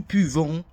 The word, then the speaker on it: pouvons: Nous pouvons, remember, don't pronounce ONS, vous pouvez, and on peut.